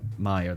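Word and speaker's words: Meier: Can we talk about the fact that like Meyer, that's how you pronounce it.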